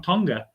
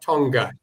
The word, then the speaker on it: Tonga: They pronounce it Tonga. I remember not Tonga say um they obviously get starved of.